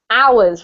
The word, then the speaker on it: hours: this word here is I know it's got an H but it's actually um pronounced hours with no h hours i s see